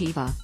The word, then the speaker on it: Eva: he and his wife, Ahiku, have named Eva, pronounced Eva, Lahua.